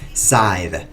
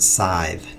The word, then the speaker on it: scythe: Scythe. That's how you pronounce that word. Scythe. Now you know.